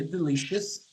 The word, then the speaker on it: delicious: O som, a pronúncia disso aqui é us.